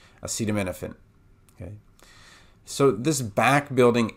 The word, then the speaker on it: acetaminophen: here we're going to start with Fen and then here it would sound like no fin but it's actually na Fen me nothing Finn acetaminophen okay so this back